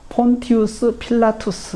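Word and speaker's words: Pontius Pilatus: 빌라도 라는 점입니다 그래서 로마인들의 발음의 는 폰투스 필라 투 스 라고 합니다 폰투스 필라투스 라고 하는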